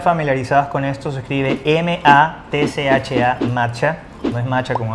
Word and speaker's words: matcha: Y para las personas que no están familiarizadas con esto, se escribe M-A-T-C-H-A, matcha.